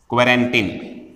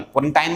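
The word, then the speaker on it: quarantine: बहुत चल रहा है, क्वारंटीन। स्पेलिंग का ध्यान रखना, QUARANT, क्वारंटीन। क्वारंटीन कर दिया उसे, क्वारंटीन, क्वारंटाइन मत पढ़ना, कहीं पढ़ते हैं इसे, कोई कोई पढ़ देता है, लेकिन क्वारंटीन कर देते हैं, मतलब जानते तो खूब जानते हैं।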